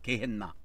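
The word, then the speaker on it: Γέεννα: 그래서 헬라어로는 이게 게헨나로 발음이 되어 있어요. 게헨나.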